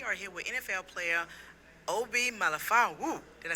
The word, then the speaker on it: Obi Melifonwu: We are here with NFL player Obi Melifonwu.